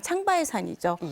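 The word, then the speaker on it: 长白山: 때문에 중국이 신청했기 때문에 중국의 명칭인 장백산 그니까 중국식 발음으로 하면 창바 산이죠 그렇기 때문에 창바 산으로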